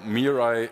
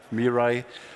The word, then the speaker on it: Mirai: call our solution meai so meai is actually in many Asian languages it means something like the future so it's different pronunciations Mirai um but what we